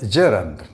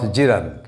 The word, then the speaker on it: gerund: on the first syllable this word is gerund not jiren the u here represents that short sound ah schwa gerund and the e represents a short a sound as in 10 this is pronoun